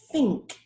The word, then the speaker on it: think: So the first word is think, and the second word is these. Do you hear the difference? In the first one, I don't use my vocal cords.